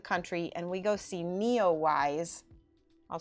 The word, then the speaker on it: NEOWISE: out to the country and we go see Neowise. I'll spell it for you guys so you can look it up yourself. It's Neowise, N-E, it's capitals, I don't know why, W-I-S-E.